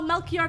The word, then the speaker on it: Melchior: Oh, Melchior Gabor. That's how you pronounce it, right?